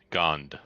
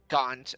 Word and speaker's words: Gond: Gond with a D. Gond.